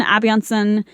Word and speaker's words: Asbjørnsen: Descent, and the stories are from Peter Christen, Asbjørnsen, and Jørgen Moe. Yeah. I also looked up how to pronounce those. Right? I was like Asbjørnsen.